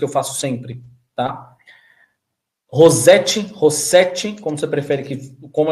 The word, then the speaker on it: Rossete: Rossete, como você prefere que como é o seu nome? Como se fala o seu sobrenome? Rossete. Rossete. Ótimo. Até porque tem dois S, dois Ts.